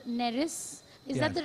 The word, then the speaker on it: Neris: There's that short story you have called A Welcome for the River God, where there's that man called Neris. Is that the right pronunciation? Yes, that's right, Neris.